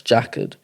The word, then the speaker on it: jacquard: I'm still new to it, so I might be saying it wrong, but yeah, it's jacquard.